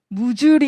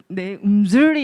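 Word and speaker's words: mzuri: 네, 저희 딸이 제 발음이 맨날 안 좋다고 저희가 듣기로는 이렇게 무주리 이렇게 들리거든요. 근데 저기 발음 음주리 이렇게 한대요.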